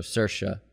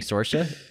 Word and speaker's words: Saoirse: So the way to remember to say Saoirse Ronan is it rhymes with inertia. So Saoirse.